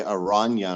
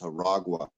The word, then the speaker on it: Aragua: Yeah, we talked about it because in the beginning I got the name wrong, and I thought it was a Tren de Aranya, and I thought it was like the Oh, train of spiders, but it's Aragua.